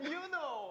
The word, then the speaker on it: Yunho: pronounce their names. Hi, my name is Seonghwa. My name is Hongjoong. And Yunho.